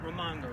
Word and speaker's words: Raimondo: Governor, how do you pronounce her last name? Raimondo? Raimondo, yeah.